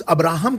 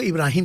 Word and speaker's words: इब्राहिम: इब्राहिम की बात की जिसे क्रिश्चियंस जस अब्राहम कहते हैं। हम लोग उसको इब्राहिम कहते हैं। आदमी एक ही है लेकिन नाम का जो उच्चारण है अरबी में और जस में और अदर लैंग्वेज में अब्राहम इधर इब्राहिम।